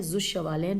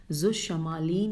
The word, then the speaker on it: ذو الشمالین: میں کیا لکھا ہے، ذو الشمالین، پہلے میں ہجے بتا دوں، زال واو الف لام شین میم الف لام یہ نون، ذو الشمالین یا ذو الشمالین۔ اس کے بارے میں